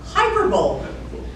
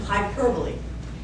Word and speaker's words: hyperbole: word I went oh hyperbol that's what it looks like right it's actually correctly pronounced hyperbole but isn't that a